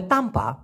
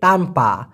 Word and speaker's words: tanpa: আবার যদি ছাড়া বলেন, তোমাকে ছাড়া, ওনাকে ছাড়া, এটা ছাড়া, সেই ক্ষেত্রে হবে তাম্পা, TANPA, তানপা, তানপা, তানপা আওয়া, সায়া তা বলে হিডুপ, আমি বাঁচতে পারবো না তানপা আওয়া, আপনাকে ছাড়া।